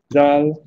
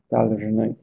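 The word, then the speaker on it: должны: Och i plural så heter det daljny, daljny, med betoning på y på slutet. Daljny, tvungna, skyldiga att göra något.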